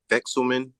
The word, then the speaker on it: Vekselman: Vexelman. Call me, but you got it. I can't believe you pronounced it right, but yeah, just call me.